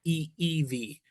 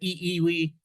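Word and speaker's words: ʻIʻiwi: So the the I gives a a long e sound then you stop and then e e v w is pronounced as a v in in Hawaiian.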